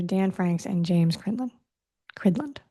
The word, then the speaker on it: Cridland: Cridland is the way you say his name.